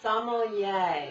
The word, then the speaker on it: sommelier: pronounce out sommelier the sommelier yes it's like some old yeah yeah now y'all know